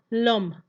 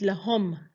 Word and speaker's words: l'homme: For example, l'homme, man. We won't pronounce it lahom. No, the H is silent.